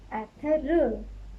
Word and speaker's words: Ertuğrul: But now you know that you have to avoid this. So you can say this Ertuğrul.